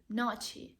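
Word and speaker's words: ночи: the word naki then just imagine that he pronounced two words now cheese and just put away this is and it will remain no cheese Nachi it will I think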